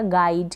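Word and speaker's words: guide: यू को तो आप प्रोनाउंस नहीं करेंगे, नहीं पढ़ेंगे, तो जी को ग प्रोनाउंस करेंगे।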